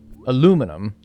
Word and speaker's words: aluminum: it the British way it's because you spelled it the British way we don't spell it that way though we don't spell it that way we take out an i you you you spell it differently so we say it like how we spell it you say it like how you spell it so we can't really get mad at each other for that one because that's just how we say it aluminum how do we